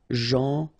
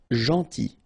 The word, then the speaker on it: gentil: So it's a strange one because here this final L is not pronounced. Okay? Gentil. Gentil.